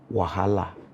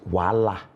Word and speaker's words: Wahala: And because I'm in the other side of the north, okay, it's pronounced Wahala. But my mom call it Wala.